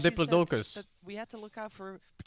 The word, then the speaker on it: Diplodocus: my daughter's favorites and i called it a diplodocus and many of you saw fit to call me out for mispronouncing it now i respect that we all say things differently but in my defense this is my daughter's book and this is how the man says it diplodocus just in case you